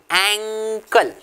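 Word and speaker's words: ankle: our shoes एंकल joint कैसे pronounce करेंगे students एंकल okay अंकल नहीं है एंकल so that is द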